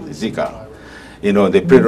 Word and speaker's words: Zika: goes wrong like Z ziga whatever they call call it zika that's how you say it zika you know they put